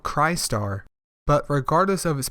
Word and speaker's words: Crystar: Chris Starr cry star I believe it is called cry star but regardless of his